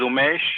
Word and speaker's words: Umesh: that jury okay um umish am i pronouncing that correctly yes that's correct let me just uh it's okay um yes so my name is umesh and i haven't done